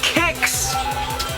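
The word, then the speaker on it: Qix: next to that is kicks yes I'm calling it kicks with a k um I know when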